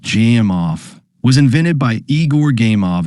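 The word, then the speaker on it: Gamow: A game off bag, pronounced jam off, was invented by Eigore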